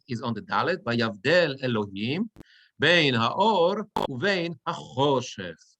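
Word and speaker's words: וַיַּבְדֵּל: Vayavdel. Everybody understand why it's vayav, not vayave, but vayav, two little dots, right? Vayavdel, and the accent is on the dalet. Vayavdel Elohim bein haor uvein hachoshech.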